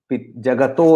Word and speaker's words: जगतः: आपके टेक्स्ट में जगतो लिखा होगा, वो एक्चुअली संस्कृत के संधि के कारण ऐसा, ये तो जब हम तोड़ के उच्चारण कर रहे हैं तो वहां जगतः आएगा।